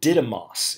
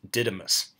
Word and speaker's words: Didymus: twin the Greek word didymus if you're looking at my notes it's a di D Y M o s pronounced didymus or didymus also means twin so